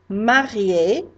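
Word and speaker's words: mariée: I might say that someone is marié, and if it's a girl, it's pronounced the same, but you do spell it differently.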